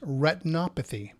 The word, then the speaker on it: retinopathy: retinopathy a diabetic a-- and that is diabetic retinopathy that's how you pronounce it retinopathy so this is called